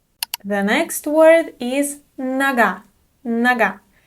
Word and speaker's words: нога: Нога. The unstressed O is pronounced as a.